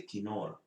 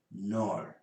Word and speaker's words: knoll: Some of you pronounce it as a knoll, but it is knoll.